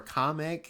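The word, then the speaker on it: Kamek: Uh, Kamk, I'll be so upset if Kamik or Kameck as they pronounce it like in the Nintendo Directs for whatever reason.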